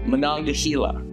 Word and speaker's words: Monongahela: Slight correction, we said it wrong in our review. It is Monongahela. Monongahela. Monongahela. We've been saying it wrong this whole time.